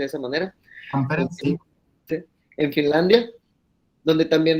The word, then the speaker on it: Tampere: en Tampere, me corrige el doctor si se pronuncia de esa manera, Tampere, sí.